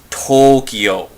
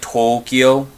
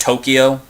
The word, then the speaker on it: Tokyo: And then like for Tokyo, as most Americans would say, it's supposed to actually be pronounced as Tokyo. You're supposed to drag out the O, so it's like Tokyo instead of just Tokyo.